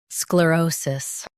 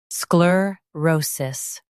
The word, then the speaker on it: sclerosis: In US, stress O. In UK, stress Ro. Sclerosis. Sclerosis.